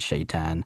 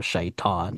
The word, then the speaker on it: shaitan: as probably S h ai tan and they pronounced it shayan and that's how this became a thing.